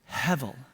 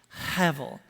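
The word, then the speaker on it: הֶבֶל: and actually it's a Hebrew word that is pronounced hevel heavil or it's sometimes spelled Hebel with a b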